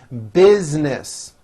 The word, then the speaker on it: business: basically a good idea business most americans pronounce this word with two syllables biz nis her business